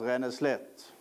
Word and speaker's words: Ränneslätt: Det står en text rätt upp så här. Och där står det så här. Ränneslätt. Fast det ska uttalas Ränneslätt.